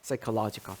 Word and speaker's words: psychological: psychological P 발음 안 나요.